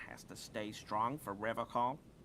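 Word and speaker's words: Revachol: but someone has to stay strong for Revocall. He says Revocall, like Yeah. Nippon instead of Nihon. He's got some extra patriotism on that pronunciation. He pronounces Revacol with a hard K, unlike other people.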